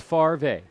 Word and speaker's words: Favre: decision on on like Brett Favre no it's Farve far fa Farve whatever you're not saying it right and they wonder why we have literacy problems here in America say it the way it's spelled here is a nice